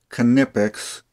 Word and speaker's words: Knipex: Now this video is going to be all about Knipex, and I checked, and that's how it's pronounced, Knipex.